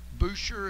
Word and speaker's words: Boucher: They do, and I love Hunter Boucher.